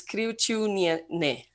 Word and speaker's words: Kriaučiūnienė: She comes from Lithuania, and I have to look for my notes to pronounce her name right. Well, Sigita is fine, and her last name is Kriaučiūnienė.